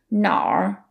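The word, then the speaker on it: 哪儿: That's because it's technically na plus r and then we merge it into n.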